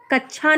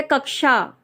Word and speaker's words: कक्षा: छा, जैसे हम बोलते छाता, ये छाता नहीं, कक्षा नहीं है, ये है कक्षा। क्षमा नहीं है, क्षमा। ठीक है, इसका उच्चारण जो है वो बहुत ही, तो आपको